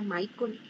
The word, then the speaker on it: Michael: dijo que le dijera Michael me regañó me dijo me dijo mi nombre se pronuncia Michael me dijo Okay le